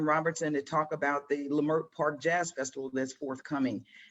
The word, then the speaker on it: Lemelle: So today our guest is Lemelle. Am I pronouncing your last name correctly? Yes, you are.